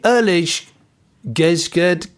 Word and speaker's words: eerlijk gezegd: because it's in Dutch, it says, we say, eerlijk gezegd, which is our take on to be fair. And it's spelt, just for the purposes of people listening, ERLIJK space GEZEGD.